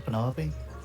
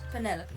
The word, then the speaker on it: Penelope: Is that short for Penelope? Officially, yes, but I never can be bothered with all 4 syllables of it. Penelope sounds a little ostentatious coming out of the mouth, don't you think?